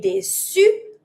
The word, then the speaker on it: déçue: I'm going to say déçue writing with the E. E is mute, same pronunciation for both.